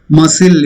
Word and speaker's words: muscle: It's not muscle. When you say it, say the word in adjective form, muscular you say. But in a noun it is silent. C is silent. It is muscle, not muscle.